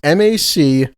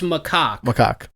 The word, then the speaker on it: macaque: of the name it's it's m-a-c-a-q-u-e-s it's macaque macaque there you go so